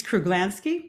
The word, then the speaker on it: Kruglanski: recording, from there, and then just make a Polish pronunciation workshop because my last name is Polish. It's Kruglanski, but don't I sweat wasn't too far off.